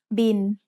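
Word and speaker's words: บิล: It's the word bill, but we read it in Thai as bin. Thai doesn't naturally have the L sound at the end of a syllable, so it changes to sound like the letter N.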